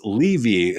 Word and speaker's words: Levy: to be a globally global credibility expert it's pronounced levy so I presume this is something that people